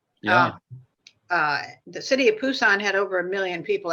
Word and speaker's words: Busan: uh the city of busan had over a million people at that time and by the way the the phoneme for busan is sort of a cross between a p and a b right so very often